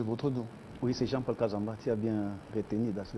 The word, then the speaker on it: Jean-Paul Kazamba: Je pense que j'ai bien prononcé votre nom. Oui, c'est Jean-Paul Kazamba.